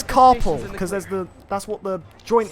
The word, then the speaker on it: carpal: it, think it's pronounced carpool tunnel, but no, it's yeah. No, because that's how it sounds. It sounds like you're saying carpooling, but it's carpal because that's what the joint is called, the carpal joint.